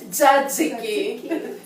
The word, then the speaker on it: tzatziki: Tzatziki. Say it like a Greek woman.